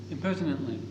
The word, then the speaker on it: impertinently: ring round impertinent Impertently impertinently split it down into four syllables it sounds like and